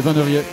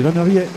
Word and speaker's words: Van der Riet: Mais c'est Van der Riet qui est à la troisième position. Vous pouvez le prononcer véritablement Van Riet, c'est la façon dont on doit le dire, même si vous êtes sartois d'origine mayonnaise.